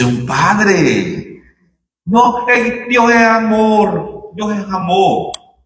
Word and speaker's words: amor: Dios es amor. Dios es amor. Ni la pronuncian al final. Dios es amó como que fueran dominicanos.